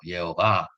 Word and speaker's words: Jehovah: four letters IHVH, Yod-Hé-Vav-Hé which, then, we can pronounce it variously, Yahweh or Jehovah.